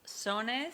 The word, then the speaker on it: Sones: Now, help pronounce this for me, okay? It's Sones.